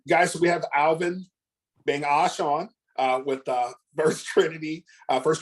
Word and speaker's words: Begnoche: the Cherry then Ash so the n and G are backwards it's like Brett Favre